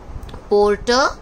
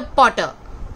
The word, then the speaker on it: porter: Porter, not a potter, porter.